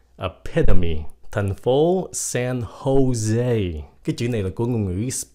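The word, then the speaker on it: José: epy Thành Phố San Jose cái chữ này là của ng người Spanish là Tây Ban Nha cái âm J của nó phát âm rằng là âm h âm h s Jose h pinho pepper chữ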